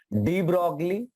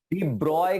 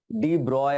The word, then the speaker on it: de Broglie: मैंने आपको बताया था, डी ब्रॉगली। एक्चुअली में फ्रेंच प्रोनाउंसिएशन ये डी ब्रॉय करके इसको बोलते हैं, डी ब्रॉय, अगर आपको फ्रेंच लैंग्वेज आती है बट वो फीलिंग्स फिर आपको आएगी नहीं। ज्यादातर लोग भी इसको डी ब्रॉगली ही बोलते हैं।